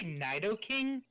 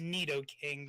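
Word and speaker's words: Nidoking: fortress and spirit tomb did you just say Knight o king I mean granted pronunciations are kind of bull in Pokemon I'm pretty sure that's neato King but anyway regardless accordance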